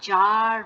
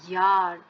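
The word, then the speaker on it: Jahr: এটা কিন্তু জার কখনোই না, ইয়ার।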